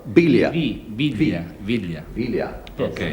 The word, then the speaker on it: Villa: Villa. Villa. Yeah. Yes. Yes. Not with a V, but a B. Villa.